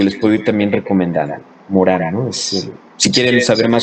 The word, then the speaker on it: Morin: señor que se llama Edgar Morán, o Edgar Morin, le dicen, ¿no? Pues se pronuncia Morán.